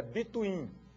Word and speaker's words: between: agora o operador between a pronúncia senhores é between Ok between Bin significa